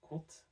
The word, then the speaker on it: compte: As you know, at the end of words, in words such as compte, there's an E, but it's not pronounced by anyone.